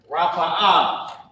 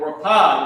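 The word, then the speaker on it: רפא: Rapa'ah, okay, is heal. Or rapah, you might hear it say rapah is the same thing. It's heal. It's how you pronounce rapa'ah.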